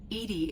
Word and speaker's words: EDI: have a specific inquiry why are you named Edie Edie is the phonetic pronunciation of e di that is an acronym